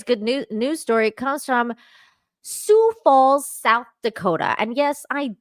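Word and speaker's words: Sioux Falls: Today's good news story comes from Sou Falls, South Dakota. And yes, I did look up how to pronounce sue because I was like, how do you pronounce this?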